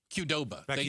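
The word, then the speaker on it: Qdoba: Kudoba. Did I pronounce it right? Kudoba.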